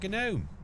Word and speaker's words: gnome: Silent with a silent G. That's correct. I thought I heard something, but maybe not. Yeah, it's a gnome.